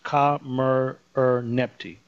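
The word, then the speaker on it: Khamerernebty: Her name looks difficult, but no, not if you break it into syllables. Ka-mer-er-nepti.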